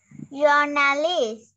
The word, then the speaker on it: journalist: Journalist. À, mình sẽ đọc là journalist. Con sẽ nhấn âm đầu tiên thì cô.